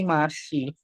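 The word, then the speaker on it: 맛이: Jadi bukan dibaca mat bukan dibaca mati atau mati tapi dibacanya menjadi masih. Kenapa kok dibaca masih? Ya karena si ini dipindahin ke atas ini. Siot kalau udah di atas dia bunyinya ya S bukan lagi T. Dia bunyinya S.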